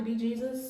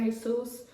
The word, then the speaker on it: DeJesus: to dr jesus um her name is spelled like dr d jesus so i know some people might call her that but the name is dr jesus when i arrived there